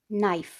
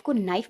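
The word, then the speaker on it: knife: आप लोग नाइफ को नाइफ बोलते हो के नाइफ बोलते हो? अगर तो के नाइफ बोलते हो तो फ्रेंड्स आप गलत बोलते आ रहे हो। के साइलेंट हो जाएगा एन के पहले, तो नाइफ इधर से शुरू हो रहा है।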